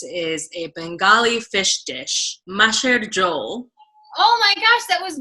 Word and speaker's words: macher jhol: up that's really good that's not how you pronounce it i think very close you have the intonation and the syllables correct it's very close material but